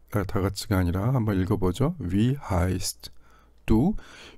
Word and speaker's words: wie heißt du: 묵음은 없는데 이런 상황, 즉 트와 드가 이렇게 겹쳐지는 상황이 있죠. 이럴 때는 이 트를 안 합니다. 그것은 묵음이라기보다는 그러한 경향입니다.